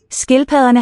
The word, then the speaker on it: skildpadderne: Skildpadderne. Double D is the fricative.